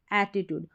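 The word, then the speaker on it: attitude: और ठीक है, TTIT, और ट्यूड, TUDE को ट्यूड पढ़ना है, टूड नहीं पढ़ेंगे, एटीट्यूड।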